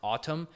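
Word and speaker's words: Atem: It's pronounced Autumn, but it's spelled Atom, A-T-E-M.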